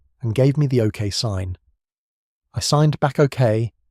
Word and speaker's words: Theo: I think about the way he says my name, Theo, with a slight emphasis on the first syllable.